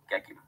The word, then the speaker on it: Gekyume: Gekyum. Yep. Okay, so guys, I just watched the video. It says the word is pronounced Gekyum.